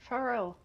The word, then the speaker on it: Pharrell: Pharrell, or like how do you want your name pronounced? Pharrell. Pharrell. Okay.